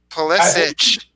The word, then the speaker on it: Pulisic: You either hear Pulisic, you hear Pulisic. So I think it's Pulisic. Like Pulisic, is that how his dad said it? Pulisic, yeah, that's the correct way to say it.